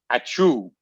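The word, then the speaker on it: ačiū: Honoring his Lithuanian roots, David called it Aciu, a Lithuanian word that when pronounced sounds like a little more like a sneeze, which means thank you.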